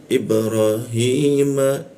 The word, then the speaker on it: إبراهيم: Ibrahim, i pakai hamzah ya.